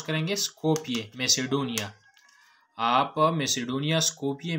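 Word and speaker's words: Skopje: अच्छा, शी was born on August 26, 1910 एन स्कोपिये, इसको हम प्रोनाउंस करेंगे स्कोपिये, मैसेडोनिया।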